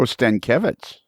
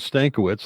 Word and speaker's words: Stankiewicz: Oh, Stankevitz. He used to pronounce it Stankiewicz, like I was saying, but then he was on a trip over to Poland, and I found out it should be pronounced Stankevitz.